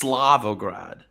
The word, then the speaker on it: Slavograd: I don't mean to interrupt your voice acting, but it's pronounced Slavograd.